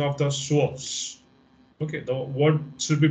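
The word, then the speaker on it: psoas: of the p p remains silent in the pronunciation of the source okay the what should be pronounced as shush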